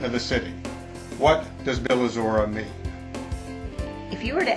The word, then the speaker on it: Bylazora: ancient Greek source and should probably be pronounced Bylazora, sounds remarkably like the modern Slavic words Bila and Zora, which mean literally white dawn.